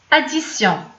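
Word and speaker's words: addition: نعطيو مثلا مثال اديسيون، كنقولوا اديسيون دونك فاش كتسمع كتنطق ديو بحال متشدده اديسيون.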